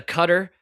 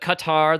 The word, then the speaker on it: Qatar: Uh, one of my favorite things about Qatar lately is still no agreeance on how to pronounce it. You got the cutter, you got the Qatar, the Kar.